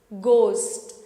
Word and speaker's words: ghost: And here we do not pronounce H, but we call it ghost. Ghost.